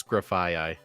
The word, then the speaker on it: Grafaiai: So, I took a look at a video that I have bookmarked on how to pronounce every Pokemon name. It is graphi.